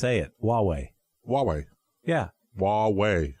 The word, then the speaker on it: Huawei: it Huawei Huawei yeah Huawei like waa WH why Huawei okay don't say don't try to say it like it spelled it's like trying to